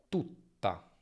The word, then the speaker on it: tutta: Tuta, tutta, feta, fetta. Nella doppia di nuovo senti questa pausa, questa fase di chiusura e la vocale prima si accorcia.